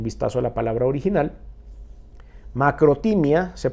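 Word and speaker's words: μακροθυμία: Macrotimia se pronuncia, paciencia, longanimidad, dominio propio y calma.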